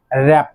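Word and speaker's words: wrap: দেন দ্বিতীয় যেটি রয়েছে সেটি হচ্ছে র্যাপ।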